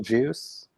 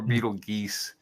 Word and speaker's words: Betelgeuse: I've heard YouTube videos that say Beetlejuice. Beetlejuice or Betelgeuse. Yeah. Because it's a translation of a mispronunciation of an Arabic word, so there's no real correct syntax on it, from what I've heard.